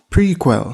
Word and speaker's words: PRQL: the first one is prql pronounced prequel this stands for pipeline